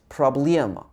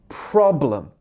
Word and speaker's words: problem: For example, I know that there's a word in Russian like problema, problema, and the stress is on the liam. But in English, the stress is on the pro. So it should be problem, not problem.